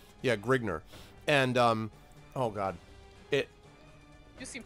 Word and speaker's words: Grignr: Grigner. How do you spell it? Grign and then R. And all of a sudden he's like, vowels are optional. Just, you know, Okay. an R. Yeah, Grigner.